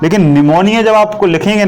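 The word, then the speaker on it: pneumonia: share है और घने समस्या रहा है लेकिन निमोनिया आपको लिखेंगे ना निमोनिया लिखते हैं नी न्यूमोनिया से शुरू होता है और इसमें साइलेंट होता है ना रो रो निमोनिया लाइक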